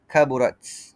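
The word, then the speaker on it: كبرت: Kaburat huruf ta itu sukun. Jadi kita perlu qalqalahkan dia. Tapi qalqalah yang ringan. Cara baca adalah bunyi pantulan yang ringan.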